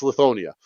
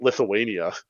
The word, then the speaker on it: Lithonia: you're installing 10,000 lithu I can never pronounce Lithonia it's Lithonia uh I keep calling it Lithuania so forgive me for